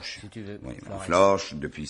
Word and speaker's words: Flores: l o R s Flores et ben ça se prononce florche moi je prononce florche